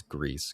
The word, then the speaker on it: Gris: I've always called it Greece, but yeah, I did confirm looking it up that it is Greece because like you said, the Spanish pronunciation is what it is, but I'm sure there's no incorrect way to say it.